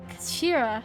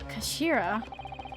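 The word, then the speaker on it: 頭: It's written as head in Japanese, but it's pronounced as Kashira, I believe. Kashira.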